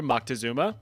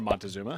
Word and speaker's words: Moctezuma: More specifically, history has suggested that the Aztec ruler Moctezuma, or Montezuma, however you want to pronounce it, believed that the arrival of the